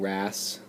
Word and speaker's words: wrasse: So a really good example of this guy would be the cleaning wrasse. That's how you pronounce that.